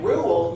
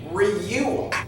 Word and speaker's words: rule: Or in rule, you're not saying reule. You're saying rule, oo.